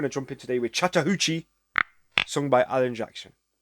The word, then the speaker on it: Chattahoochee: jump in today with Chattahoochee sung by Alan Jackson hoochie I'm pretty sure that's what it's how it's said anyway not coochie anyway it's gonna be a